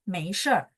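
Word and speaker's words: 没事儿: Eh kita lihat 对不起, jawabannya boleh 没关系 atau 没事儿. 没事儿, 事儿 ini teman-teman tahu artinya apa? 事儿, bacanya langsung R-nya digabung sama SHI ya.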